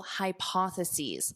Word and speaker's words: hypotheses: Many controversial hypotheses. Hypotheses, this is the plural of hypothesis. One hypothesis, two or more hypotheses. So, notice the pronunciation changes at the end to identify the singular versus the plural.